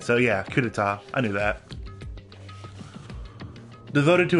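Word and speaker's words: coup d'état: coup d'etat okay I thought that's how you pronounce it but it didn't look right so yeah coup d'etat I knew that devoted to a certain student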